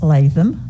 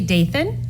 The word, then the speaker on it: Dathan: my right is miss latham am i pronouncing your name right it's dathan jason i update and it's like nathan but because i apologize